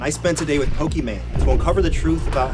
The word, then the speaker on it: Pokimane: It's meant to be Pokémon like the game Pokémon, but I totally understand it reads as Pokimane.